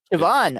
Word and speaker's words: Siobhan: All right, you might not be any better at this, but it's spelled Siobhain, and it looks like it's Irish because it's got Siobhan. Siobhan, okay.